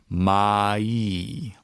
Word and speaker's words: mai: accent, a lot of people end up saying my, where it would be, you would end up with mu, a, instead of mu, a, e. You want to make sure you have the e sound at the end. So, mai, mai, mai. Mai. It can help if you kind of like smile a little bit. Mai. So you're using more of your teeth.